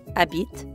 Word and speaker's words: habite: By the way, habite technically starts with an H, but since the French H is silent, we treat it like a vowel.